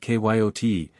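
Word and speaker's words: cayote: rightly this latter was the regular kote pronounced kyot T of the farther deserts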